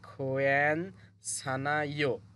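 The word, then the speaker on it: 괜찮아요: এরপর থাকে নিউন, নিউনটা কিন্তু আবার এই ইউং এর স্থানে চলে যাবে, যেহেতু সামনে ইউং আছে আর নিউন বাসিম আছে, এই জন্য এই নিউনটি এখানে যাবে। তাহলে এই শব্দটার উচ্চারণ হয় খোয়ান সানাইও, খোয়ান সানাইও, মানে ঠিক আছে বা সমস্যা নেই।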